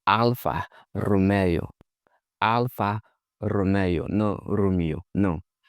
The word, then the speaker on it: Alfa Romeo: Some say like all kinds of stuff, but that's not how Italians pronounce it. They say Alpha Romeo.